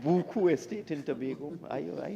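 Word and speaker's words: Buccoo: new five-star internationally branded Resort Hotel on the Buu did I get it right buku estate in Tobago I I know it as Buu but I understand buku is correct pronunciation just like ostin SK is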